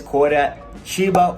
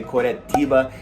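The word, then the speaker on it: Curitiba: fast growing city next is koda chiba or as the locals say koretiba it's the capital of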